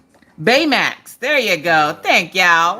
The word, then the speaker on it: Baymax: I just remember his name was, not B-Max. Was it B-Max? Oh, I don't know. It was, Baymax.